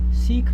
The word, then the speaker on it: Sikh: know something about it I am from the Sikh faith seek means a student the student literal translation means a student so that's it's spelled s i KH s shaking at a